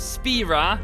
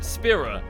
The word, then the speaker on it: Spira: not tedious it's Titus it's not spera it's Spira it's only tight it's